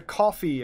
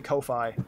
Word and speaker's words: Ko-fi: And yeah, no, Max is saying that he has a coffee account. If it's pronounced coffee, I always want to say Ko-Fi, but it's a coffee.